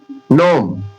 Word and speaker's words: gnome: जब किसी वर्ड के शुरू या अंत में जीएन हो तो, शुरू में या अंत में जीएन हो तो जी का उच्चारण साइलेंट हो जाएगा। उस जगह जी को कुछ नहीं पढ़ा जाएगा, साइलेंट हो जाएगा। देखिए जी से स्टार्ट हो रहा है, GNOME, नोम नोम। अब ये जी साइलेंट हो गया तो इसे कितना पढ़ा जा रहा है?